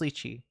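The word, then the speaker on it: lychee: Is it kind of like a lichi or lii? It's pronounced lii.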